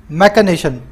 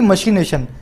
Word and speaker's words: machination: दूसरा होता है मैकेनेशन, इसको स्पेलिंग बोलेंगे तो आएगी मशीनेशन, MACHINATION, मैकेनेशन बोलते हैं इसको।